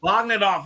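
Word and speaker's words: Jon Bogdanove: I never know how to pronounce it. I think it is Bogdanov, yeah. Bogdanov, yes, the creator of Doomsday.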